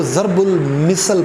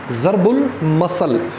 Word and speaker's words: ضرب المثل: کی ہے ضرب المثل، اسے کچھ لوگ ضرب المثل پڑھتے ہیں جو بالکل غلط تلفظ ہے، ضرب المثل۔ تو ضرب المثل کے